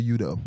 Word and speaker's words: Udoh: Olisemeka Udoh. Udoh.